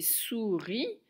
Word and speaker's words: souris: mode la tortue et souris sous premières syllabes et riz et à la fin il ya le s qui muet et enfin le dernier